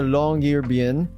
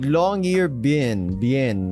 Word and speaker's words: Longyearbyen: With a flourish of his arm, we all started tromping through the snow in the direction of the Longyearbyen Harbor. Wait, Longyearbyen. It's like bin.